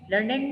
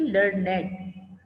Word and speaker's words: learned: Many learned men. Learned means educated. Okay, learned. How I pronounce it? Please listen. It is not learned. That learned means the verb form. And here learned is adjective.